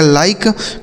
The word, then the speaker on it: like: इस आई का उच्चारण आई हो गया और के और ई से क, इसे पढ़ा जाएगा लाइक, मतलब हो जाता है पसंद करना।